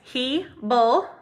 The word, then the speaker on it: Hebel: started my name is Hebel he bull a lot of people pronounce it wrong that's okay I'll answer